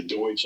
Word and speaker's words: Deutsch: And I came across a Deutsch Drahthaar, which we'll say Deutsch, I suppose, because that's how they say it in Germany.